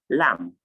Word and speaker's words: lamb: cut mat rat and lamb remember i said lam i did not say lamp you don't pronounce the